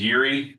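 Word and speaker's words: Yeary: names for me yeah my last name is Yuri that's spelled y e a r y andon is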